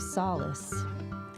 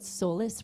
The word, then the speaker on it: Solace: Mostly people call it Solless Ranch. But the word is like solace, you know, like um Rory, you're behind the pole.